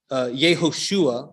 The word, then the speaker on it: Yehoshua: Yehoshua is how we would pronounce Joshua if we're trying to be more Hebrew in pronunciation.